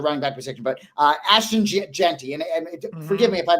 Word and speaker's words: Jeanty: are at the running back position, but Ashton Jeanty, and forgive me if I didn't pronounce the name correctly.